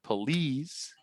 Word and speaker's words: police: And finally, sometimes an I is pronounced as a ni too, as in machine or police and ski.